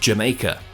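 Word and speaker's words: D'yer Mak'er: was the song Jamaica spelled like this but pronounced Jamaica the title itself was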